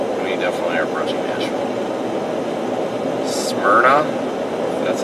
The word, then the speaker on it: Smyrna: Smyrna, that's how you say it.